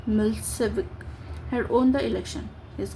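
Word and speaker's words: Milošević: A narrow-minded Serb nationalist Meloic pronounced Milseik had owned the election.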